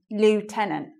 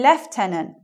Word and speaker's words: lieutenant: Lieutenant, okay? American English. But in English, we need to make it a little bit more difficult. So we say lieutenant.